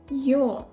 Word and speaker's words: ё: The next letter is ё. Like in New York.